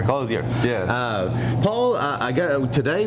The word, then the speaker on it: Clothier: i butchered it again he said don't use the french word version close the a you said clothing okay i got it right i'll get it right here close here yeah paul i go